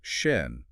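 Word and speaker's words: schön: The word to practice is shen. It means beautiful. Shen. See, most Americans say shun or maybe shun, but it's shun. You need that tight O shape.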